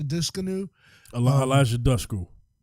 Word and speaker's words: Dushku: an actress Elijah dis canoe a la Eliza Dushku dusk you right that's correct pronounced at least mispronounced their last names all